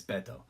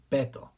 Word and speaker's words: Beto: Because that's, like, my brother's nickname is Beto. It's pronounced Beto. Not Beto, not Badao. People pronounce the shit wrong like crazy and it drives me nuts.